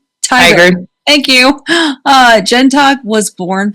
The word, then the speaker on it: Tigard: Tigard.